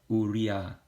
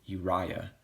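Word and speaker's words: אוּרִיָּה: in was and was Maria Maria all right we're not gonna say you Uriah Uriah that's an anglicized version of it you're gonna say Maria Maria all right let's go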